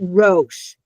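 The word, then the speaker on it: ראש: that would be o, because the aleph doesn't say anything. So ro. And then we have sh. This is supposed to be the dot to make it a shin. So Rosh, and that's head.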